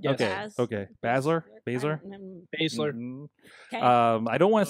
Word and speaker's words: Baszler: Baszler.